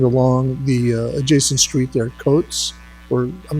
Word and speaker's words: Coates: corner and extend along the adjacent street there, Coates, or I'm not sure the pronunciation of that, but I think you, how is that pronounced, Jimmy? Coates, the adjacent street? Couts, yes, thank you.